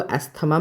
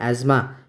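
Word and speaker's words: asthma: इसको एस्थमा मत बोलिएगा। इसे कहते हैं एज्मा।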